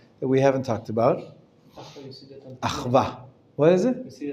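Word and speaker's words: אחווה: Achva, sometimes in Hebrew, to make sure that you know that it's a consonant and not a vowel, we double the Vav. Achva, it's just a way to make sure that you should pronounce the V sound, the consonant.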